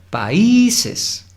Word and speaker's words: países: La I es la sílaba tónica. Países. Entonces la I se vuelve tónica y entonces tenemos que ignorar la reglita de si es aguda, grave o esdrújula para hacer notar que la sílaba tónica va a ser la I y que debemos pronunciarla así.